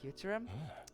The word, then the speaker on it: Futurum: Futurum. That's the name of the planet. That's how it sounded pronounced in local tongue.